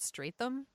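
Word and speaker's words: Strathairn: of this also this movie has date David straight them is how you pronounce his name strap yes strap yes and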